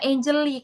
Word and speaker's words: Anjali: Pronunciation-nya Angeli, Coach. Oh, bukan Anjali. Bukan bukan Angeli, tapi Angeli.